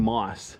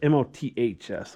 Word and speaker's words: moths: I kept saying moss. That's M-O-T-H-S, moths. I was being sloppy in how I pronounced it.